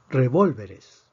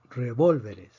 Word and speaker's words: revólveres: de excepción revólveres revólveres aquí tenemos cuatro sílabas la palabra termina en s por lo tanto pre decimos que la fuerza debería estar en la penúltima sílaba pero vemos que aquí está en la antepenúltima sílaba entonces necesitamos escribir un